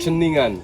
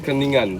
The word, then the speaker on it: Ceningan: It's Kenningen Just or cross the how do you pronounce it? Kenningen. Cheningan.